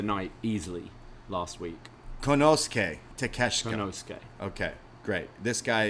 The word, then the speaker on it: Takeshita: And then Moxley, this is an eliminator match against, I always forget how to pronounce his first name, because I know it's Takeshita, but Konosuke?